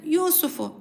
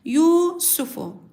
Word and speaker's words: Yusuf: okunur anlamında değildir Evet Yusufu kelimesi Arkadaşlar dikkat edelim Yusuf kelimesinde sin harfi uzatılıyor çok fazla sin harfini uzatmadan okuyacağız Yusufu Yusufu diye kısa okunması gerekir yus derken r harfi